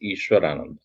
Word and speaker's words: Ishwarananda: Then only they pronounce it as Ishwarananda. When I write ISHW, they call me Aishwaryananda.